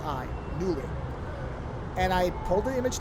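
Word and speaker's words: Knulli: things are all free I'm using one called newly which is I think it's supposed to be pronounced newly k n u l i newly and I pulled the image down flashed it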